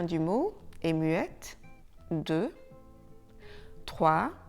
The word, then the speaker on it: trois: TROIS: la lettre S à la fin du mot est muette.